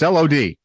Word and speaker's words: Lod: in an industrial zone in the city of Lod? Zod? I don't know. It's Lod. It's near Tel Aviv. We all know that one. Chris, how do you pronounce the city Lod in Israel?